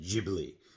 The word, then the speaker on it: Ghibli: And Miyazaki, if I'm pronouncing his name right, pronounces it Ghibli. So I'm going to say Ghibli.